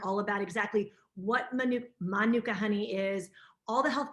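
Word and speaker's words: mānuka: well it's a maori it's a maori word and it's pronounced manuka so just a little do we know what the manuka means in maori it's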